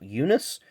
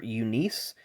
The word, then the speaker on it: Eunice: leagues that'd be Mr Cecil Eunice or Unice I've heard it's pronounced both ways we'll flip this card